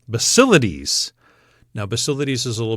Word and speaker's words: Basilides: How would you pronounce that next one? Basilides. Basilides.